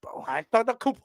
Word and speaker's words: Antetokounmpo: How do I pronounce? Hold on. Antetokounmpo, right? Am I almost? Antetokounmpo.